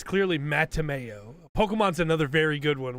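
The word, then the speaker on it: Mattimeo: talk to Brian Jakes the author but they pronounced his name Matthew Mayo okay and his name doesn't have an H in there it's clearly mateameo Pokemon's another very good one where they just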